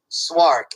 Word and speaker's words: Szwarc: Oh, it's Jeannot, Jeannot, Swark, Szwarc. So he directed Jaws 2. So he Jeannot came in. Right. Swark.